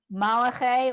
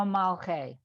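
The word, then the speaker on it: מלכי: second word with the shva underneath the L, would it be malachi or malche? Malche.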